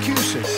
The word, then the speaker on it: Cusick: cart now comes professor cusick that's qc rhymes with music when it comes to